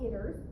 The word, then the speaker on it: ITERS: What does the infant toddler environmental rating scale, and again, it's called ITERS, that's how they say it.